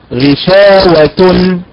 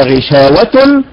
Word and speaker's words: غشاوة: كذلك غشاوة، الأداء المستقيم بالنبر على حركة الشين، فالبعض ينقل النبر ويضعه على حركة وتن، على حركة التاء، فينطقها هكذا غشاوة، هي غشاوة وليست غشاوة.